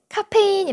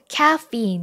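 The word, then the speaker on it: caffeine: 카페인 이렇게 발음하지 않죠 바로 카피인 이렇게 발음합니다 뭐라고요 카피인 카 fein 참 신기하지 않나요 또이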